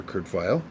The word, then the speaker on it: Kurt Vile: i'm an outlaw by kurt vile pronounce the german way like the conductor the musician the composer kurt file but it was americanized